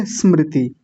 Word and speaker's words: स्मृति: बड़ों का थोड़ा कठिन होता है क्योंकि बड़े लोगों का उच्चारण पहले से गलत है। पहले से अभ्यास गलत है उनका। तो क्या बोलेंगे? स्मृति।